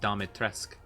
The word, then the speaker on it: Dimitrescu: Yeah, no, that's how it's spelled, but I think it's pronounced Dimitrescu.